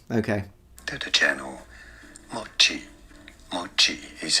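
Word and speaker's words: もち: But it's the opposite, at least in standard Japanese, it's pronounced mochi, mochi ga. It's a heiban pattern, so one of those low to high pitches in Japanese, but he doesn't know that.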